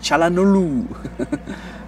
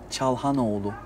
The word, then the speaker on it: Çalhanoğlu: Every German speaker pronounce Çalanolu. Ah. But it's not correct. Hakan Çalanolu. Hakan Çalhanoğlu. Hakan Çalhanoğlu. Çalhanoğlu, yes. It's a little bit different from your pronounce.